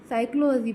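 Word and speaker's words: psychology: word कौन सा है पी क्योंकि देखिए मैंने फिजियोलॉजी नहीं पढ़ा साइकोलॉजी पढ़ा तो पी हमेशा साइलेंट रहता है ओके क्रिया में सही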